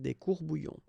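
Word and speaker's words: court-bouillons: And then if you want to put the plural form, well, same rule, S, S, you don't pronounce it. Des courbouillons.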